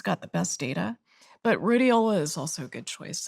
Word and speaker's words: rhodiola: I've found a supplement called, I can't pronounce the name properly, but rhodiola?